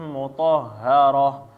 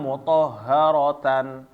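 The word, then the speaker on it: مطهرة: Nah, ketika ta marbutoh maka dia bacaannya tetap berhenti menjadi ha ya. Ya, waqaf. Kayak misalnya di sini yatlu suhufam mutahharah, berhenti. Bukan mutahharatan atau mutahharata.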